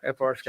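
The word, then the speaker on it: FrSky: Yeah, the Fry Sky. Is it FR Sky? Is that how you say it? Yeah, FR Sky.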